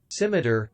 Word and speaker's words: scimitar: You're butchering me with the I honestly don't know how to pronounce that word. I really don't. It's Scimi. Is it what? Simi? Is it SMLJ? Scimitar, scimitar, scimitar, scimitar, scimitar, scimitar, scimitar.